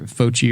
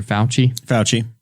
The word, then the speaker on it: Fauci: And as far as we know, with that, how do you pronounce his name? Dr. Fauci or Fauci? Fauci.